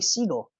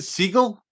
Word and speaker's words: Seagal: speaking of which uh did i tell you the correct pronunciation of steven seagal's name no it's actually seagull is it seagull yeah so from here